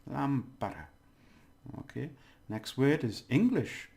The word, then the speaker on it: lámpara: So the stress is on there, lámpara.